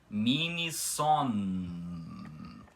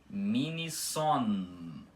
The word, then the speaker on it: minison: Eles são pronunciados como consoantes de verdade, ou seja, vocês conseguem perceber aqui que é minison. O M final é puxado, tá? E o N também. Então, vocês conseguem pronunciar minison, tá? Com o M final puxado. E não minison.